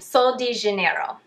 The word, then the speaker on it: Sol de Janeiro: I'm Brazilian, let me try to pronounce this correctly. Sol de Janeiro.